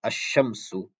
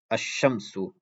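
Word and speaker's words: الشَّمْسُ: So there won't be any sakin on the lam. Rather, there's going to be a tashdid on the sheen. So the way you pronounce it is like this: ash-shamsu, ash-shamsu.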